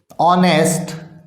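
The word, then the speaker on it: honest: Word जो है, honourable, ऑनेस्ट और आवर, ये वर्ड्स जो हैं इनके पहले एन का प्रयोग होता है। एन का प्रयोग क्यों होता है, क्योंकि इनके अंदर एच साइलेंट है।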